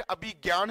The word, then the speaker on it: अभिज्ञान: अभी मेघदूतम अभिज्ञान Shakuntalam it is pronounce eight अभिज्ञान Shakuntalam but written as ए बी एच आई जे एन ए एन ए आगे शकुंतलम आरहा है